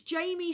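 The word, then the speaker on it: Jaymey: He spells his name J A Y M E Y. It's it's Jamie spelled phonetically.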